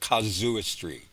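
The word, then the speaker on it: casuistry: And uh the Catholic way of argumentation uh or thought processing if you will is is called kazooistry spelled cas u i s t r y.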